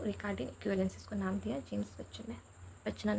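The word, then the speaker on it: James Buchanan: अब 1976 में एक जन और आए जिनका नाम था जेम्स बच्चन नहीं, सॉरी, कब से हम इसको जेम्स बच्चन प्रोनाउंस करें, जेम्स बच्चनान।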